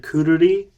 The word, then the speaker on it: Quruli: I guess I should say it features Kishida Shigeru from the rather popular Japanese band Kururi. They spell it in English Quruli.